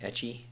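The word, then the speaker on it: ecchi: you a fan of uh how is it pronounced ecky etchy etchy yes yes a little bit of hentai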